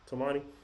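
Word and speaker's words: Toumani: Did I pronouncing his first name right? Is it Tumani? Tomani. Yep. Tomani.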